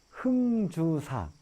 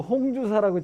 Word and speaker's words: 흥주사: 그래서 백화산 자락에 흥주사 라는 지금 사찰에 와 있거든요. 그래서 여러분들이 우리나라 발음이 홍하고 흥하고 좀 헷갈려. 네. 그래서 그죠? 네. 인터넷 검색해 보면 처음에 말만 듣고 홍주사라고 치면 잘 안 나와.